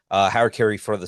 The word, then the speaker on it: Harakiri for the Sky: You've got one coming up with Harakiri for the Sky. Is that how Yes. you pronounce it?